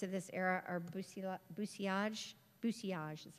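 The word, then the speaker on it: bousillage: Bucilage is how they say it.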